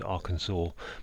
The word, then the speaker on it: Arkansas: um but it said as I as I'm pronouncing it it's Arkansas but it's r a Kansas R Kansas so